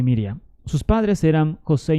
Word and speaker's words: Miriam: josé y maría perdón pero mejor pronunciados en hebreo joseph y miriam sus padres eran josé y maría que es correctamente pronunciado se es joseph y miriam de los cuales prácticamente